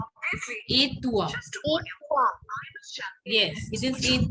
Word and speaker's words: et toi: How do I'm you pronounce it? Et toi. Et toi.